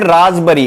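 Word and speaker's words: raspberry: और इसको हम बोलते हैं रासबरी, इसमें पी साइलेंट रहता है, हिंदी में इसको बोलते हैं रसभरी।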